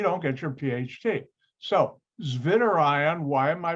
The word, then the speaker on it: zwitterion: get your phd so zvinder ion why am i pronouncing that v like a w because that's how germans pronounce the w or german language and